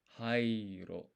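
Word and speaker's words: はいいろ: But I think this vowel sound, like this I is there twice. So this is hairo. There we go.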